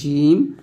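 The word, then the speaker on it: جيم: এটা হচ্ছে জিম, জিব্বার মধ্যখান, তার বরাবর উপর তালুর সঙ্গে লাগবে জিম।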